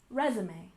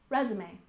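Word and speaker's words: résumé: next we have resume we stress the first syllable resume resume it's another French word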